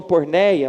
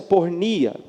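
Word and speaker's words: πορνεία: No grego, irmãos, há um termo muito conhecido, né, que é pornia, né? Alguns até falam porneia, mas pelo que eu entendi, a melhor pronúncia é pornnia.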